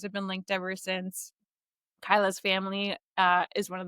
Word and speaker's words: Kaila: Um I am so yeah my name is Kyla. Um I think similar to Tara I uh my name is frequently mispronounced so it is not Kayla uh but it is Kyla.